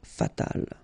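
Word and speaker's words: fatale: And then fatal, feminine form, you just add this final but then phonetically it's the same, fatal.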